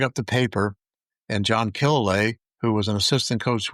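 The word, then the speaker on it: Killilea: I think, is that how you pronounce his name? Right, Killalay.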